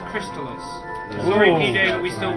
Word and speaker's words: Crystalis: quite amazingly Timothy Cruz del $10 it is pronounced Crystalis luring me day we still walking people actually